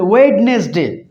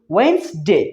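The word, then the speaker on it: Wednesday: এখানে দেখতে পাচ্ছেন ওয়েডনেসডে। অনেকেই বলে ওয়েডনেসডে, উচ্চারণের সাথে দেখছি ডাব্লিউ ইডি, ওয়েড এন এস, ওয়েডনেস ডি এ ওয়াই ডে, ওয়েডনেসডে। কিন্তু এটার সঠিক উচ্চারণ কি? ওয়েন্সডে।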